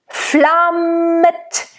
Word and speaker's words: flammet: And make sure you make it a double M. Flammet. Now the A in German is very similar to the A in Italian. You don't want to go flammet or flammet. Ah, it's a very neutral, nice and open ah.